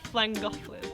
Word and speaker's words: Llangollen: We are in Llangollen. Oh no, I can't. I'm not from this country. I say Llangollen. How do you say it? Llangollen. Llangollen. Llangollen. Llangollen. Llangollen. Llan. Double L. Llan.